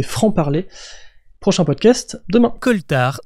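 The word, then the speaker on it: coaltar: parler prochain podcast demain coltar ça s'écrit C O A l t a r alors c'est vrai que ça fait bizarre et pas très français mais justement c'est parce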